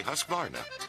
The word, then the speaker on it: Husqvarna: now how to say husqvarna you say husk like corn and varn like varnish without the ish and nah